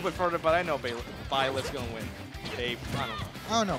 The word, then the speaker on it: Byleth: I always mispronounce that. It's Baylen or Byleth. It's Byleth, but there's no A. How are you gonna pronounce it with Baylen?